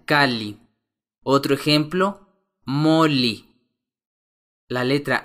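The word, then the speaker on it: calli: cabeza se pronuncia son la letra doble l se pronuncia como si fueran dos L por separado por ejemplo casa se pronuncia kali otro ejemplo moli la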